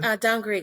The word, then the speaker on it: Dangriga: Man, can you pronounce the name of the town again? Dangriga. Yeah. Dangrega.